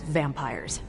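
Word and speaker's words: vampyres: vampires with a Y pronounced exactly the same as vampires I suppose that was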